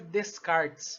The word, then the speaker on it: Descartes: A gente escreve Descartes, mas a pronúncia é Descartes.